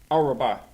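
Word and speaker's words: ארבע: Araba.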